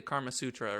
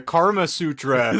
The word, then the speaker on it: Kama Sutra: I wanted to do kind of like a brief history on like the Kama Sutra or something like that.